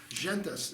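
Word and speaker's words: Szentes: Robert Gentes. He spells his name Sz Nes. Gentus is the way I pronounce that.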